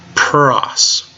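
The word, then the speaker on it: πρός: Sigma put it all together ha ha ha Pras cross cross all right all the words that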